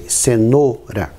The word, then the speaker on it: cenoura: In words like cenoura, even though you write it with OU, we pronounce it close. We say cenoura.